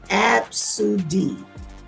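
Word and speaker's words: Abcde: Somebody said, "I once met a kid named A B CDE E pronounced abs."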